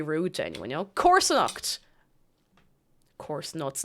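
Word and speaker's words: comharsanacht: Corsonacht. Corsonacht.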